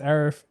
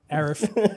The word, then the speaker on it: Arif: My name is Arif. What? Arif. Arif. The A is silent.